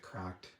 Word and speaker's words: CRKD: to spell that out say CKD but they pronounce it cracked and it says for upsi product visit crk